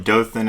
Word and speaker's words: Dothan: correct me if I am, but you're from Dothan, Alabama. Is that right? That's right, and you pronounced it perfectly.